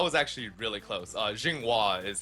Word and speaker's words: Zhenghua: that yeah that was actually really close uh Jinga is how normally people pronounce it I mean it's it's really long